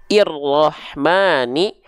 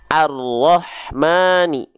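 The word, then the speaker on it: الرحمن: Nah berarti di sini kita baca Enggak mungkin irrahmani enggak mungkin urrahmani pasti dia dia dibaca dengan vokal a arahmani Pasti karena huruf setelahnya adalah huruf huruf lam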